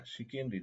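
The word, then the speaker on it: chicanery: Uh I think it should be shikenry. Yeah. Shikendry, not shendry. Shikendry is the correct pronunciation.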